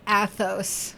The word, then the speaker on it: Athos: Are you still saying the name wrong just to rile me up, Lewis? Cuz it's Athos.